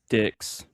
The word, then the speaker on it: Dix: Number 3 on our list is JD Dick. I'm guessing that's how you say it. Dicks, not dick. Dicks. There's an X. How does that change it?